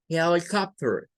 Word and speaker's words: helicopter: Luego la I, miren, la I se queda solita y es un schwa.